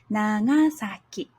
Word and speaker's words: Nagasaki: And Nagasaki, na begins low, ga is higher, and then for saki, it's back low again. Nagasaki.